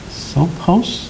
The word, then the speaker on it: Sophos: The Sophos, is that how you pronounce that? S-O-P-H-O-S? Sophos?